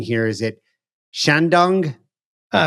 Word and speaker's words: Shandong: Help me out with the pronunciation here. Is it Shandong? Uh, Sandong. Sandong. Sandong.